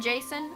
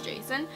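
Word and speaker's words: Jacin: read about winter and Jason I think that's how you pronounce his name j a c i n is that Jason I've been saying it is Jason and then she's holding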